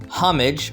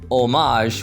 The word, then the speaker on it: homage: However, with this word, you could also pronounce it homage from British English or homage, which is where the French origin comes from.